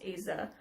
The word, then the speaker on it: Aza: I believe it's pronounced Aza. It's spelled A-Z-A.